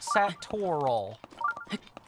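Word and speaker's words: Satorl: say that word and most of the time it it's two syllables sat toal I know I said it like there's three but there's most certainly two if you think about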